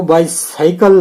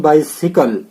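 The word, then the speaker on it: bicycle: जैसे वाई सिकल, इसको बाइसाइकल नहीं, बाइसिकल। ठीक है ना। ये हमेशा याद रखना। इसी प्रकार से इनका उच्चारण होता है।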